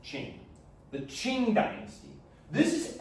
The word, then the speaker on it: Qing: That's how you pronounce that, Qing.